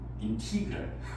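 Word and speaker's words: integral: 이게 영어로 영어권에서는 인테그랄. 근데 인티그랄이라고 읽어야 하는 게 맞대요. 인티그랄.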